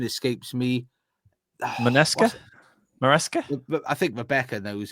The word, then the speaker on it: Maresca: Minesca. Mesa. I think Rebecca knows it better than me. How do you pronounce his name? Oh goodness. Maresca.